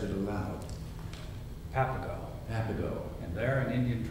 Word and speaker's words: Papago: I thought Papago, and then I remember that when in doubt, it's the second syllable. Papago.